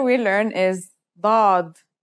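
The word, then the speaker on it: ضاد: Pod The next letter we learn is dad. This one is like a strong version of the dal, kind of like the d in the word daughter.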